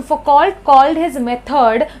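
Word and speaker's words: Foucault: ये मिशेल है, मिशेल फुकॉल्ट, फुकॉल्ट बोल सकते हो, एक्चुअली इसको प्रोनाउंस किया जाता है मिशेल फुकॉ, तो फुकॉ करेंगे तो हम H लिख के आ जाएंगे, है ना, तो वो नहीं बोलना है अपने को मिशेल फुकॉल्ट बोलना है।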